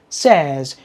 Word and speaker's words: says: the pronunciation for example if you don't use dictionary you never know that this word is pronounced says and this word is